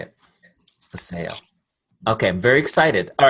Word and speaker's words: Vasayo: Okay, one more thing before you jump off, and that is the correct pronunciation of the company. Vasayo. Okay, good. That's the way I was going to say it. Vasayo.